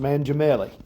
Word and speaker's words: Mangiamelli: Tony says his name is pronounced Mangiamelli. Mangiamelli, manja, which is Italian for eat.